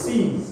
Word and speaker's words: seize: This one is seize, right? This same pronunciation, seize. Seized. This one means I will take it, I will not give it back. Seized. C-E-A-S-E. Seized.